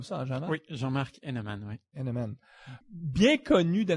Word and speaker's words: Heneman: Tu le prononces comme ça, hein, Jean-Marc? Oui, Jean-Marc Henneman, oui.